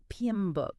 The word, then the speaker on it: PMBOK: and you know it's all about PM buuk PM book yeah the PMB and we've got uh that's